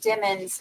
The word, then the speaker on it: Demons: from everything I've heard you have to do the lemons and demons 100 times in order to say it right yeah me too I've